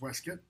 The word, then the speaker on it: waistcoat: her West cutoff waistcoat it's pronounced weskit and hands it to